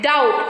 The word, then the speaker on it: doubt: Next, if it comes before the letter T also, debt, doubt, like this.